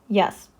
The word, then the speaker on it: Е: In English, it's pronounced like ye in yes.